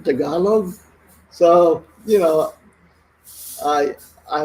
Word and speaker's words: Tagalog: i heard the word oh you speak tagalog tagalog you mean tagalog so you know i